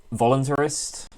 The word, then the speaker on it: voluntarist: How's it pronounced? Voluntarist, I would say.